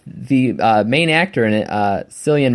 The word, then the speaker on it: Cillian: Even though I do like the main actor in it, Cillian Murphy, or Killian Murphy. I don't care how you say his name. I say it's Cillian Murphy, and that's how it is for me.